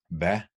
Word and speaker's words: hvad: And we have a few very used words in Danish where with 1 or 2 silent letters. I'm going through the list and you can just repeat after me. Hvad, it's a word for what.